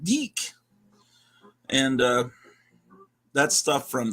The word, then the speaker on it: DIC: from that DIC Studio which I think is pronounced de and uh that's stuff